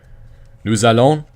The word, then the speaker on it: nous allons: Nous allons, remember to pronounce the S because there's the vowel.